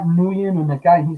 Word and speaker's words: Nguyen: I was angry because my name it was pronounced Win, like Paul Win. That's how you say it, Win, right?